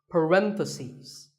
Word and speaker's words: parentheses: stress is on random if you're talking about both the plural is parenthesis the last syllable becomes cease parentheses word number 47 is